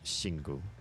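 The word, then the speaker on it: Xingu: how to pronounce that my first instinct is is a sh sound with the X partly because of Mandarin and partly because there is a Brazilian beer spelled s x i n guu that is I believe pronounced shingu Kush shag I would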